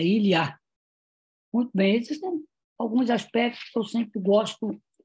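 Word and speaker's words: Илья: Ilya se pronuncia em russo como se fosse em francês, é Ilya.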